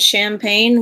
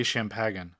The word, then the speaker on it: champagne: then now was it champagne or was it sparkling wine uh it was probably prco okay what the because it's silent it's a French word the g is silent he's just being annoying